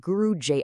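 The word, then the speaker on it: Guru J'AI: We're going to break down the world of a character named Guru Ji. Now, that's J AI, but it's pronounced Guru J.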